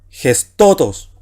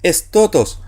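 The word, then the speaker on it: ἑστῶτος: Ahora usted dirá, ¿y por qué, profe, no puso estotos? Si tenemos una épsilon, equivale a la E, una sigma, la S, la tau, una T, una omega, a la O, una tau, nuevamente T, una omicron, también O, pero breve, y una sigma final S, porque ¿qué me apareció aquí? Fíjese, un espíritu rudo, vocal.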